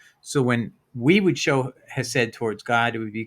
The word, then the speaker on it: Hesed: iteration in the Wikipedia, it's spelled Chesed, but it's Hesed, or at least that's how it's pronounced.